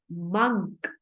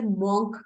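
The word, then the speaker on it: monk: सो the another word is मंक. तपस्वी को लोग अक्सर मॉन्क कहते हैं, सो इट्स a wrong pronunciation. The correct one इज मंक.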